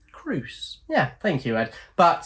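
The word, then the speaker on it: Crouse: going to Mis pronounce names I'm all for pronunciations c r o u s e Cru yeah thank you Ed but so Misery all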